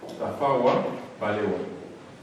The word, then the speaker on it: Tafawa Balewa: Tafawa Balewa. It's written as it is pronounced.